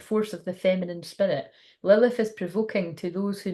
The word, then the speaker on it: Lilith: go it's going to tell us a story Lilith pronounced Lilith is known as Jewish mythology as the